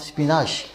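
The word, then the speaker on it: spinach: Twice the calcium of स्पिनाश। स्पिनाश यानी एक किस्म का पत्ता होता है वो जो सालन वगैरह बनाने में बनाते हैं, स्पिनाक भी कहा जाता है उसे, उसका सही प्रोनाउंसिएशन स्पिनाश है वो जो उसमें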